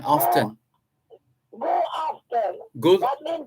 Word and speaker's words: aften: And afternoon mean AFTEN. AFTEN, often.